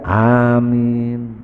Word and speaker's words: amin: mau begitu ya amin amin hanya panjang mienya juga Bang panjang Amin itu yang pas sesuai dengan maknanya di sini Amin